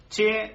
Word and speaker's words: che: Mapuche, que deriva de dos palabras, mapu y che. Que che significa gente. Gente. ¿Y se dice? Che. ¿Es con la CH bien pronunciada? CH bien pronunciada, claro.